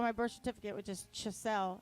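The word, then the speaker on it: Schascle: It's like the game chess with an L after.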